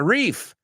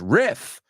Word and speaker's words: riff: Pero no se pronuncia riff, como lo decís a la española. It's riff. So they are not homophones.